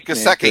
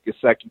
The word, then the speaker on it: Gesicki: But the Mike Gesicki out of Penn State I think I'm pronouncing his name Gesicki, correct. no, it's Mike Gesicki, yeah.